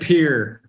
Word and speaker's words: Pierre: the rapper who said pierre you got what i mean yeah someone here somebody said it there's no peers in north or south dakota pierre pierre they they pronounce it pier they pronounce it here